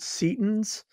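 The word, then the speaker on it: Setian: temple of set practitioners would be called Seaton's or Satan's with a long e and their religious practice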